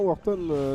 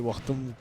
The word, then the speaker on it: WooxTom: En même temps, Wharton, c'est lourd. Hein. Wartom. Ouais, Wharton, j'arrive plus à prononcer. C'est bon, il est tard. Hein. C'est Wartom.